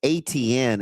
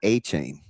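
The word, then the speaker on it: Etienne: Which by the way, how did we go this long with calling Travis ATN and not Achain? What? Yeah, that's his pronunciation. Really? Yes. He's he's a Louisiana Bay by you guy. So when he got to Clemson, nobody could say it the right way.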